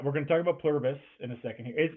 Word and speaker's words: Pluribus: We're going to talk about Pluribus in a second here. Is Is Is that how you say it? Plurbus. I think it's Pluribus. Pluribus. Okay. There's an I in it somewhere.